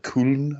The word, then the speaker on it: Köln: 350,000 people made their way out to, was it Köln, I believe is how they say it in Germany.